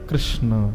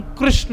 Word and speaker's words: कृष्ण: शुद्ध उच्चारण हरे कृष्ण, भगवान का नाम कृष्ण है, कृष्णा नहीं। लोग अपने पुत्रों का नाम भी कृष्णा रखते हैं, तो संस्कृत की दृष्टि में कृष्णा स्त्रीलिंग शब्द है, पुरुष का नाम तो कृष्ण होना चाहिए।